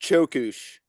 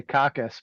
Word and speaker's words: Cokus: how do you pronounce the band name it's pronounced chush it's a Turkish word that means decline or downfall I was gonna say cockus but you know everyone's got one that's one